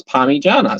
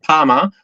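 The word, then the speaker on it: pyjama: say spell it out it's an i and pronounce it it's py Jana so it's not Pama or any other rubbish variation they have I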